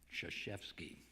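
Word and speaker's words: Krzyzewski: I see several nods Mike shazewski whose last name is spelled with five consecutive consonants if you include y as a consonant k r z y z and he lets us off the hook by calling him shashevsky Mike was the fabled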